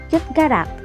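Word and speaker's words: 젓가락: Uulitin ko po, itong double S and single S, kapag nasa huling posisyon ng isang Korean word, letter T sounds po yung pagbigkas dito.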